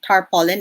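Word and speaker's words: tarpaulin: associate this with uh tarp pollens right would you believe tar pollen is one of the correct ways to pronounce that word which we're familiar with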